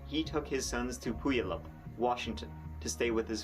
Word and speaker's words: Puyallup: pronounced Puyallup.